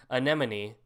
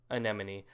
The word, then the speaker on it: anemone: to be able to how do you say anemon amoney no anemone I can say that perfectly a Beav I